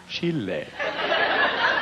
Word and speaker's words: Chile: I was going out, my wife and I went to Chile, which I now pronounce Chile. That's how they say it.